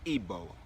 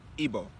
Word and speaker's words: Igbo: ethnic group known as the ebola okay igbo it's spelled igbo all right so now